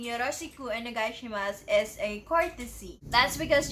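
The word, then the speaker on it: お願いします: Again, you may notice another vowel devoicing at onegaishimasu. So try to silence the letter U.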